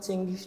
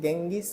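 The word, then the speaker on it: Genghis: ওনার নাম আসলে চেঙ্গিস না, ইংরেজিতে ওনার সঠিক নাম হচ্ছে গেঙ্গিস খান। ওনার নামটা কিন্তু ইংরেজি জি লেটার দ্বারা, ঠিক আছে? তো অধিকাংশ ইংরেজি জি লেটার দিয়ে সাধারণত গ উচ্চারণ হয়, বুঝতে পেরেছো? গ উচ্চারণ হয়, যেমন গর্জিয়াস।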